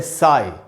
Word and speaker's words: sigh: है वो है SIGH और इसमें GH जो है वो साइलेंट है, इसीलिए सिर्फ SI का उच्चारण होता है, साई।